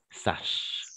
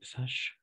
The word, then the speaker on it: sache: Alors, c'est un peu particulier hop. C'est un peu particulier au niveau de la phonétique, le son ch, d'accord? Mais de toute façon, je veux le mettre. Oui, sache.